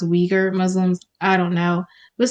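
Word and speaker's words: Uyghur: support of i think conor told me it's pronounced weaker muslims i don't know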